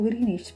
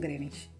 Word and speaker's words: Greenwich: Pronunciado Greenwich por los locales, a quien además no les agrada la pronunciación Greenwich, según Oxford y otros medios oficiales.